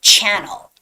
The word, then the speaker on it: channel: yeah that's the difference but here there are two ends and it's channel channel and the stress goes on the first vowel first syllable which is channel channel 11 11.